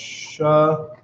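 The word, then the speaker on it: שלום: This is how it's pronounced. Shalom.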